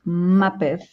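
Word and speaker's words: Maped: We pronounce this in Spanish Mapef, but it's a Canadian company. Muppet.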